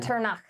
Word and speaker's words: Echternach: So these three infantry units are going to attack Echternach. Echternach. You don't know how to say it? I'm German. Echternach. So I'm pronouncing it correctly because I am the German.